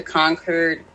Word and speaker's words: Concord: I'm like, especially up north, I went to Concord. I forgot how to say that. Concord, because you don't pronounce the R, Concord.